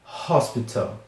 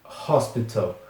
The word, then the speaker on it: hospital: Próxima palavra, hospital. Hospital. É, tem aquele H que tem o som de R no começo, né? Hospital.